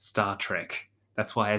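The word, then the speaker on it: STARTRK: the start RK studies are actually pronounced Star Trek that's why I said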